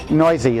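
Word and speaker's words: Neuse: I saw this guy, Noisy is how you say his name, sorry.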